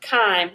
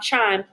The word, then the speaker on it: chyme: the stomach as time that is pronounced chyme not chime it's going to leave